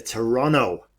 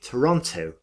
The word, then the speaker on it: Toronto: Melbourne, to the UK, to Toronto, as the locals say, or as a British person would say, Toronto.